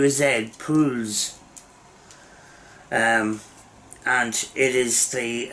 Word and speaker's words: PULUZ: break um bush um yeah it's the it's pronounced p u l u usa pools um and it is the uh remote shooting